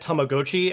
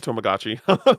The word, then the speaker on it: Tamagotchi: a Legends of Arceus situation where they said Tamagotchi, and I went, "Holy shit! I've been saying it wrong my entire life." yeah, it's too bad. Tomogachi.